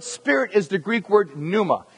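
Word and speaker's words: πνεῦμα: spirit that word spirit is the Greek word Numa spell it overhead you can see it on the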